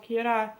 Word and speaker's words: Kira: Kira, or it is related to the English word killer, but pronounced in a more Japanese way, so he is called Kira.